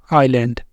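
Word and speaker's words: island: तो यहां भी होगा लेटर ए साइलेंट कैसे प्रोनाउंस करेंगे इनको आइलैंड आइलैंड आइल आल्ट आल्ट तो ये है हमारे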